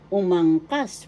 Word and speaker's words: umangkas: we connect another word umangkas first syllable second syllable ang third syllable umangkas the third syllable is in the third